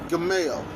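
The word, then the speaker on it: גימל: good man jemelle see see it pronunciation G as in gold transliteration go G Camille the mill it sort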